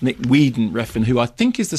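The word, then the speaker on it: Nicolas Winding Refn: for glorifying violence now the director spell Nick winging rein but I believe pronounced Nick Weeden Reen who I think is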